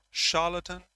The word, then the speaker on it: charlatan: Let me check. Charatan. Charlotte. Just a sec more. Yes. Charlatan. Charlatlatan in British and American both.